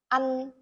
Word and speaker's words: ăn: The example, ăn, to eat. To pronounce this word, you say the A very short and the N longer. Ăn.